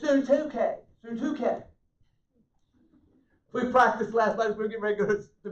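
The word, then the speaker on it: Syntyche: And I implore, synthetic, that's kind of what it looks like, but that's not it. It's Suntuke.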